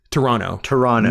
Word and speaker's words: Toronto: That's how it's correctly pronounced. Toronto. No T. No second end T.